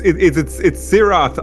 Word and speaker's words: Sirath: As Jody said, it's Sirath, obviously. It's a TH at the end of it.